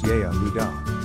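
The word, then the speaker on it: יהודה: In the Aramaic language, the name Judah is spelt Yehudah and is pronounced Yehudah.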